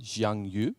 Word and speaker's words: Jiang Yu: I think his name is pronounced Jiang Yu. Yep. Correct.